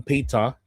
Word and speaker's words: Peter: Pag-usapan naman natin itong si Petra, si Senator Peita, Alan Peita Cayetano. Peita yung tawag sa bigkas sa mga Australian sa Peter.